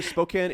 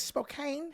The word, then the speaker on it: Spokane: To me, Spokane is the little Gotta hit brother up that of Ruby Ridge Memorial.